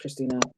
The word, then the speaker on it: Christienna: frier uh so uh despite the spelling of my name it is uh just pronounced Christina um I'm a writer